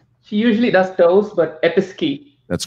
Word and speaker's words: Episkey: please and chandrew she usually does those but episkey that's correct schmidt i'll say it right episky correct all right so six six they both